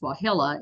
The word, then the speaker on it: Wahilla: Her name, pronounced Wahilla, is Cherokee for Little Eagle.